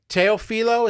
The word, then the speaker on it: Teofilo: Teofilo, is that how you pronounce it?